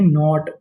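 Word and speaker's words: knot: के एन ओ टी। इस meaning को हम लोग पढ़ते हैं नॉट। क्या पढ़ते हैं? नॉट यहां पे के हमारा साइलेंट रहता है।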